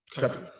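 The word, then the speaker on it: Cuffe: So I'm assuming that other than is it Paul Cuff or Paul Cuffy? How do you pronounce his name? Cuffy.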